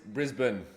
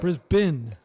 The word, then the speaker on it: Brisbane: I'm pronouncing it correctly Brisbane how do you pronounce it uh bris Brisbane so like bris bin okay so it's almost like there's no e